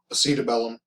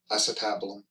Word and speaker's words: acetabulum: All right, and the last part of this structure I want to talk about is the, and I've heard it pronounced a couple of different ways, acetabellum, acetabulum. Anyway, it's the socket portion of the joint.